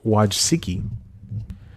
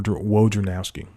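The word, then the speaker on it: Wojcicki: name CEO Susan W waji that's like wowski w wowski from ESPN in waj siki's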